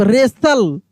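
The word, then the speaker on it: wrestle: rake देखिए आप रेसल अब यहां पे देखिए टी भी साइलेंट है क्योंकि एस टी एल ई है तो टी भी साइलेंट है और डब्ल्यू भी साइलेंट है रेस्टल नहीं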